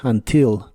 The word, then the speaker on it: until: puede tener el acento en la primera sílaba o en la última y ambas formas son correctas Así que vas a escuchar until y until la forma más común Quizá es until con el acento en la I until now until Now y